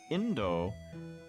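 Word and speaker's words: 引導: She also mistook the characters that are pronounced as Indo and means something like requiem or last rites for the word Indo, which means India.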